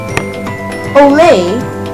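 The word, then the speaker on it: OLE: for a moment and use Olay pronounced in the same way as one would pronounce the Latin exclamation it's another one of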